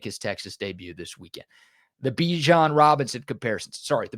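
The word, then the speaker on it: Bijan: The Be John Robinson comparison. Sorry, the Bjan Robinson comparisons. He told us how to pronounce his name, so I got to make sure I pronounce it right.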